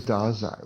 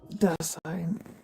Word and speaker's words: Dasein: Dasein. Sign. Yeah. What is it? Dasein. The sign. Dasani? The sign Dazai. German word he pronounces like a Japanese word.